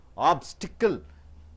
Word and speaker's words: obstacle: verb or adverb now obstacle how many beatings are there three beating southern being a noun you have to stress the first syllable obstacle obstacle hindrance intense